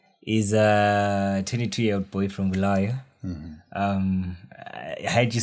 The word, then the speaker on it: Bulawayo: We just make it as Boo, as BHU. But then I figured that people are more, they care more about how the name is pronounced. Yeah, because it's Bulawayo. Like it's Bulawayo.